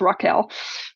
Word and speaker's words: Rachel: my main character um it spelled Rachel but it technically pronounced Raquel but um from the first book I'm not gonna I still call her Rachel but it's uh it's